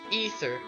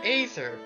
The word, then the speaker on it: Aether: looking up this word, it's pronounced ether. But when I actually, like, play Brawl, and he does his, final smash, I swear I hear Aether. And I honestly think Aether sounds a lot cooler than Ether.